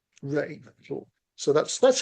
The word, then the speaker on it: Rea: would you say David Reer or Ray for our guitarist here? Ah, according to Wikipedia, he pronounced it Ray. Ray.